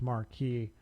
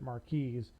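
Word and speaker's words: marquise: Mares with an E is the feminine version of marquee for a cut of a diamond. Apparently, it's still pronounced marquee. I'm still going to pronounce it mares to different differentiate.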